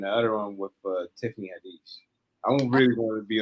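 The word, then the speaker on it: Haddish: other one with Tiffany hadish I really want to be on one Tiffany hadish is that how you say your name yeah Tiffany hadish yeah Hades I thought it was hadish at least maybe that's just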